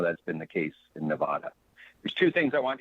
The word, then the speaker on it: Nevada: committee is cringing because we pronounce it nevada and we are very